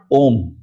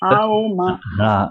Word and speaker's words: Om: First of all, it is not Om. It is Aoma. This is the wrong pronunciation.